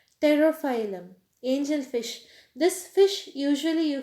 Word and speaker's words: Pterophyllum: Pterophyllum. P is silent here. Pterophyllum.